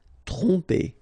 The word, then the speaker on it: tromper: Tromper, okay, same thing here, OM, so and after that you've got a consonant, so technically you will pronounce it like a nasal here, OM will go like on, tromper, tromper.